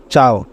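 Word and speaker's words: ciao: কয়েকটি উদাহরণের মাধ্যমে দেখা যাক সি ই এও চাও এখানে সি এর পরে ই আছে এজন্য সি এর উচ্চারণ চেয়েছে ছি ই এম এম এ চিমা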